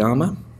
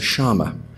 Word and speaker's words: llama: In Spanish, you'll call it a llama. In Uruguay or Argentinian Spanish, they pronounce the two L's like a sh, so it's a shama.